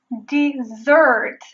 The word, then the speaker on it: dessert: El primero "dessert" se pronuncia con | ɪ | después de la fonema | d |: | dɪ |.